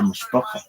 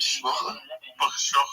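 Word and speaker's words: משפחה: It's a mishpacha, and I want more members of our mishpacha. Okay. So fuck is that? Actually, don't explain. Family, makes family. How do you say it? Shmocha? Mishpacha.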